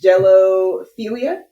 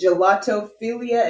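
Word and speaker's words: gelatophilia: uh no no stop it's jello philia angelophobia Jello like the no gelato it's gelato philia and gelato phobia the G or the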